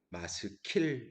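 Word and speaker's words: 마스킬: 표제가 붙어 있는데요 어 원래 히브리어 발음은 마 스킬 입니다 스프로 중요한 건 아니구요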